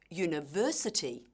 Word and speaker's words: university: For example, in the word university, the stress is on the third syllable, university.